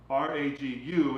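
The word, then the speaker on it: ragout: And you want this as a ragu, a ragu is spelled this way as R-A-G-U, and then there's a ragu, which is French, which is R-A-G-O-U-T.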